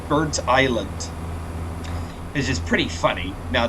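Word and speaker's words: Burntisland: originally got this route I was saying bertis not realizing it was birt Island which is pretty funny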